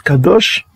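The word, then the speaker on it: קדוש: légaux et 10 cas d'achat il prononce kadosh et puis là on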